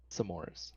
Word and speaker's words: s'mores: S'mores. S'more. There's an apostrophe, so you pause, and it's s'mores.